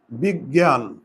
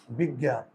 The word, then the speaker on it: বিজ্ঞান: কি লিখে দিয়েছি এই যুক্তবর্ণের পরে যদি আকার উচ্চারণ থাকে তাহলে কিন্তু গ দুইবার এবং শেষে কি জ ফলা দেয়া আছে না তাহলে দেখি এই